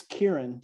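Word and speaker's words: Ciarán: story um i have is it pronounced saran it's kieran like kieran culkin oh okay yeah it's kieran okay kieran kieran hines for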